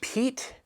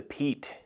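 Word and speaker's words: Piet: going into the crkts this one is the pete i pronounced it wrong in another video i said the the pia you can see it's the p-i-e-t the peat this is the voxeness design has been absolutely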